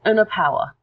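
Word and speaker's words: ἀναπαύω: It's Anapauo, actually. And so the way to pronounce that is unapauo.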